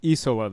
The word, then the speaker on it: Isola: So just to make it's pronounced Isola then. Well, I mean, the proper Italian pronunciation is probably something like Isola, but neither of us speak Italian.